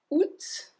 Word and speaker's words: août: the other one because technically we should not pronounce the T at the end, but we do pronounce it.